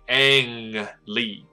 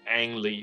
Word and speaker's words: Ang Lee: Lee。我以前还我在找资料的时候我还误解，我还以为他的 An 是女生的名字，那个 An。那也不是说错啊，今日两性平权的状态下，或者应该讲多性平权的状态下。你取一个名字叫 ANNE，然后你是男生，好像也没什么不对的，但总是找不到，所以他的名字是 ANG，所以 Ang Lee，那个马桶音哦，Ang Lee 这样。Will receive a BAFTA fellowship at the BAFTA